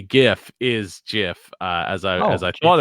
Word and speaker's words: GIF: to say gif is jiff as I as I thought it was according to the creator who says it's pronounced jiff like the peanut butter he's the first articles